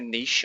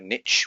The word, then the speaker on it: niche: we need to know a niche or a niche whichever the way you want to pronounce it you want to go